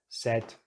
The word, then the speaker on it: said: Paid, so this is our diphthong here. Paid, made, said, said. It's quite different, huh? Paid, made, said. So, of course, this is our odd one out.